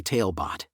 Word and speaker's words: Talebot: tonight's bedtime tale brought to you exclusively by tailbot dive into a world where imagination has no